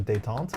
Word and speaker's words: détente: I've heard some pretty wild pronunciations of détente, which is always fun when it's the French word.